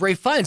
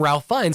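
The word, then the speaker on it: Ralph Fiennes: it because i'm like i always thought it was ray funds that's what we always started calling him ralph fines and i'm like am i saying it wrong or are they i think that's what he went by the collective conscience was like well we're all saying it this way now so i just went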